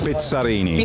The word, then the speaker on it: Bizzarrini: Bizzarrini. Bizzarrini is the Italian way.